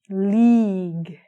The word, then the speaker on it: league: League. I spell this word wrong all the time too. I put L-E-G-E. League. But it's got our lovely silent U there, so it's league.